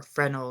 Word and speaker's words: Fresnel: a fourth order of Fresno or phrenal lens as it's pronounced um and by this